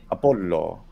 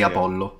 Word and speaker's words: Apollo: just say Apollo Apollo there is no long o at the end but if you really want to speak standard it should be closed Apollo not everyone does that though so a lot of people say about with an open or whatever as long as you don't close the one in the middle I think it's opening